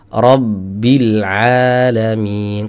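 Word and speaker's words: رَبِّ الْعَالَمِينَ: Ada ba sukunnya di sana sebenarnya. Cuma ba sukunnya ini sudah melebur menjadi satu dengan ba berharokat. Sehingga ada efek qalqalah yang mempengaruhi pelafalan huruf syiddah. Syiddahnya tetap tertahan tapi tidak terkunci.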